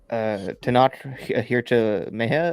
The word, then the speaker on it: Tenoch Huerta: And Tenoch Huerta as Namor, probably butchered that pronunciation, but I just let Edgar say it.